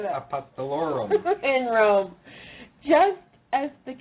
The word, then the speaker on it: Apostolorum: Apostolorum.